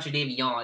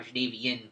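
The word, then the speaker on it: Jadeveon: think he's CH clown is now he's not jadav it's now jvi in Clowny apparently that just came out the other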